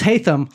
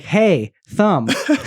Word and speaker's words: Haitham: me he was like my name's hayam like hey thumb so if you need to know how to say his name that's the best way to say it I'll do it for